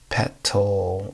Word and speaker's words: petal: Petal or petal, because of course the T takes on a D sound in English, so you get a D, petal, petal.